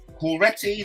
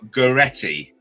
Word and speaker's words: Goretti: Let me make sure I pronounce that right, because there's nothing I love more to do than mispronouncing words. It's just a thing I do. So I have, like the regular viewers of my YouTube will know, I have trouble pronouncing anything more than 3 letters, and Storm Goretti is something I have to look up.